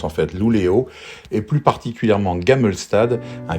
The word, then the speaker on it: Luleå: 466 km pour rejoindre Luleå, ça s'écrit comme ça mais ça se prononce en fait Luleå, et plus particulièrement Gammelstad, un village-église qui se trouve à proximité.